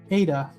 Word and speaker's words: Ada: little easier to announce ada it's almost like it's like ida oh it's like ida almost but ada is it ada or